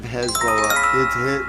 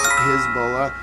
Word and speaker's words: Hezbollah: By the way, there's two pronunciations of Hezbollah. There's one is Hezbollah, the other is Hezbollah. They are both correct.